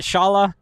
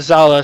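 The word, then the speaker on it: Szala: Is it Shala? No, it's Zala, so the S is Zala? silent.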